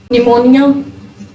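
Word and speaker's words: pneumonia: इफ a word begins with P एन और पी टी, अगर कोई लफ्ज पी एन और पी टी से स्टार्ट हो रहा है तब भी जो पी है वो साइलेंट होगा।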